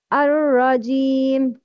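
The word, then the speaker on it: الرجيم: Ar-Rajim. Pronounce Kasra of Jim clearly by lowering the lower jaw. It's Ar-Rajim, not Ar-Rajim. Jim, no, it's Ar-Rajim.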